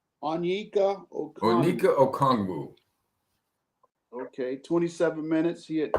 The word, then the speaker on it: Okongwu: Okanagwa, Mr. Okongwu. Where are they coming with these last names that are so hard to pronounce? Onyeka Okongwu.